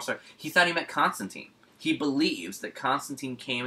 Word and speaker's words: Constantine: by Alan Moore, who said it's pronounced Constantine, not Constantine, even though I've called him.